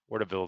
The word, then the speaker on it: Wardville: Is it Wardaville? Wardaville is how you say that.